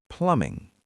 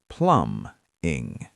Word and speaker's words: plumbing: We call that plumbing. Plumbing. The B is silent, right? Correct. You don't say the B. Plum-ing.